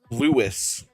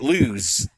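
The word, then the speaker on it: Lewes: Now, when you tell me the name Lewis, I automatically say L O U I S, right? That's how we spell Lewis, right? Well, they don't spell it like that. It's spelled L E W S. And for years, I mean, like before I married my wife and all of this stuff, I was calling it lose.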